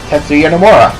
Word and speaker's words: Tetsuya Nomura: Tetsuya Nomura.